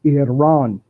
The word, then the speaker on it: Iran: mean yeah you know Iran number one and and hiki told me that we don't say it right it's Iran he said ain't nobody over there really likes to run so I ran anywhere